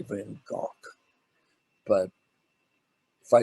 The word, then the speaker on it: Van Gogh: all been go and that's the way we pronounce his name was van gogh it's really van gaal but if i said